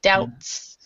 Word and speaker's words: doubts: The B is silent, so we'd say doubts.